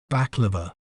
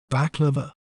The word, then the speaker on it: baklava: We may pronounce it as baklava, baklava, bak, la, va, baklava.